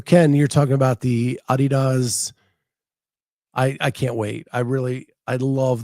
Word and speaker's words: Adidas: So Ken, you're talking about the Adidas. I can't wait. I love the look of them. Jay Birch, when did the pronunciation change?